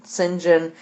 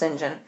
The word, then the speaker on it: St. John: the next day when Sinjin and i know it looks like st. john but it's pronounced Sinjin so the next thing when Sinjin went to check on